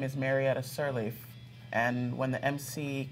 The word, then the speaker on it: Marietta: In Georgia, they pronounce it Mayretta. Oh, Mayretta.